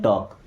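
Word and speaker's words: talk: देखिए टॉक word में दोस्तों एल होता है साइलेंट। क्या पढ़ते हैं? टॉक। ओके? देखिए एल के बाद अगर लास्ट में कभी के आता है या एम आता है तो वहां पे एल साइलेंट ही हो जाता है।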